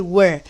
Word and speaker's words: were: You, we, they ini menggunakan were, ya, bacanya were ya, bukan were tapi were.